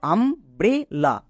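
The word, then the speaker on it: umbrella: লা তাহলে কি দাঁড়ালো আম ব্রে লা এখানে ইউ এর জন্য আ কেন হলো ইউ এর পাশে পরপর দুটো কনসোনেন্ট আছে তাই ইউ এর জন্য আ হলো এই ট্রিক্সটা খুব ইম্পর্টেন্ট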